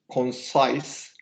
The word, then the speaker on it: concise: recite his poem, simple and concise. Yeah, we're gonna do a schwa here.